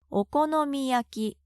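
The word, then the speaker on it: お好み焼き: お好み焼き Please repeat.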